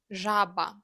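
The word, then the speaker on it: жаба: It makes sound you heard in the middle of the words pleasure or treasure. Let's pronounce the Ukrainian word for frog. Jaba jaba.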